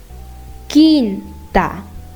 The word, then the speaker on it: quinta: But in the case of QU with E and I, you are not going to be pronouncing the letter U, just like the case of G. So, what you're going to do is you're going to skip the U and go straight to the next letter, which is E or I.